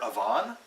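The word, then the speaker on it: Evaan: it's a female character this name is spelled e-v-a-a-n I've been calling her Avon but uh I hope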